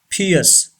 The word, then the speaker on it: pierce: suggestion the number one pierce say this word pierce r should be silent pierce say this word